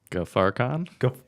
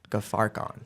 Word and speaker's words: Ghaffarkhan: Ghaffarkhan. Ghaffarkhan.